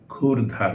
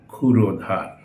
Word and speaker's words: ক্ষুরধার: ক্ষুরধার, আমরা এটা ভুল করে ক্ষুরধার উচ্চারণ করি, এটা হবে ক্ষুরধার।